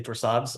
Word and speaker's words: Torsades: Okay, this is one pet peeve is that you don't pronounce the S, but that's minor. I can live with that if you say Torsades, although it's like fingernails on a chalkboard a little bit.